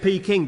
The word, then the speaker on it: Peking: I thought he'd mispronounced the word packing. But he said Peking.